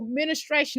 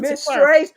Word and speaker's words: menstruation: So ministration, not administration, but ministration, okay? To clarify. Menstruation. Oh, menstruation. Okay, yeah, we call it ministration.